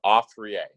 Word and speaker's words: Afriye: It's pronounced Afriye.